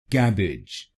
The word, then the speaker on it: cabbage: तो बनेगा कैबेज, कैबेज, कैब, एज, कैब, एज, कैबेज, कैबेज। और इस शब्द में आपको पहले शब्दांश पर यानी CABB पर जोर डालना है, कैबेज, कैबेज। तो इस शब्द को कैबेज नहीं बोलिए, इसको बोलिए कैबेज, कैबेज।